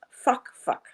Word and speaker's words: FAK: Now, the original name of this boat was FAK, which is an Indonesian name, and if it's pronounced properly, it is pronounced fuck.